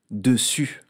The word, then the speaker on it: dessus: Dessus. Comme pour le mot dessous, dessus s'écrit avec deux S pour faire le son S, et puis aussi un S muet.